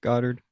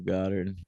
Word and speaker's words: Goddard: Are we sure it's not Goddard? I am sure. How? Well, because Godard, the filmmaker, is spelled with one D instead of two D's, and also I've